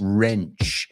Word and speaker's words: wrench: Wrench. It's one of those words with a silent W.